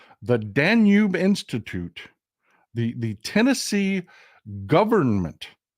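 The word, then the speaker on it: Danube: how he pronounces it it's danu as in the blue danu Walts the danu river listen to the way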